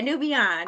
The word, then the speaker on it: Nubian: So, but Nubian, okay, you talked about, and Nubian, am I saying it right? Yeah, new beyond.